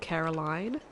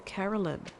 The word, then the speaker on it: Caroline: up they totally do there's a lady I work with called Caroline and there's a woman in my office who insists on calling her Carolyn but I'm just like where are you getting this from her name is Caroline it's not spelled like Carolyn it's spelled like Caroline she calls herself Caroline